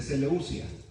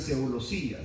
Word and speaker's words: Seleucia: descendieron eh Oiga bien Cómo se pronuncia esta palabra de seleucia Porque algunos dicen seosa seosa y es seleucia seleucia así se pronuncia seleucia Ah y de ahí